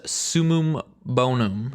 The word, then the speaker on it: summum bonum: forthcoming deviants the void rapid fire glaive and summum bonum yes that is how you pronounce it the ark wave frame sword you